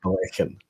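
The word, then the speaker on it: Ballechin: if it's uh edradar it is indeed balikin or black and i believe it to be pronounced blackened there we go guys whiskey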